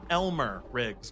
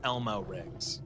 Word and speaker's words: Elmer Riggs: said his name wrong it's Elmer Riggs not Elmo rigs um did you say